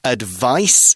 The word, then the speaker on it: advice: verb forms of this advice is a noun it's got a C in it kind of sounds like ice advise has got that